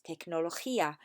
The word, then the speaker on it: tecnología: Pues es tecnología. Remember, say the G as a H.